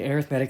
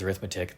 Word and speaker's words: arithmetic: down but reading it out a sequ an arithmetic sequence I know it looks like it says arith metic they are the I mean it's exact same